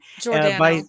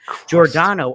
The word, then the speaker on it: Giordano: Giordano.